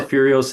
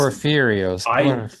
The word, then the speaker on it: Porphyrios: So this is back to Saint Porphyrios. Man, I'm sorry. That's okay. Saint Sa- Porphyrios is a it's Porphyrios, I did not even Porphyrio, know how to say his name when I first became Orthodox.